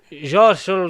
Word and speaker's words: Xochitl: Xochitl Gomez. I think it's like Shotty Gomez. I think it's Shot.